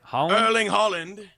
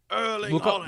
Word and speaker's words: Erling Haaland: Erling Haaland. The G is silent? Yes. Erling Haaland.